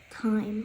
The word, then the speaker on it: time: job number one of silent E is to make the vowel before it long let's see I give you an an example the word Tim right Tim t i m if we added a silent e to the end what would that word say time time yes see if there's